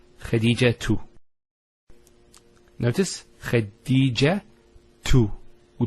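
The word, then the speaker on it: خديجة: I actually pronounced the ta marbuta as a ha. Medina, Khadija. Now if I stop on the ta marbuta, it's actually pronounced as a ha in both cases.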